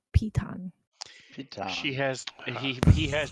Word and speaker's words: piton: all four of these little niches but it's pronounced piton she has he he has two more than